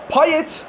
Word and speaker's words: Payet: Payet diye yazar, paye diye okunur.